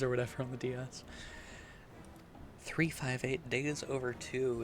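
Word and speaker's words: 358/2 Days: whatever on the DS 358 days over two is the proper way to say the title and I agree that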